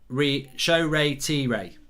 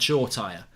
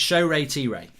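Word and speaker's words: Shoretire: i i've even said shaw tire it's show ray t ray that's how you know that's how you pronounce it apparently show ray t ray so it's four syllables uh mark did you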